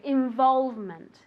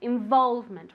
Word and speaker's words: involvement: say this very good involvement involvement okay with the accent on the o involvement one more time very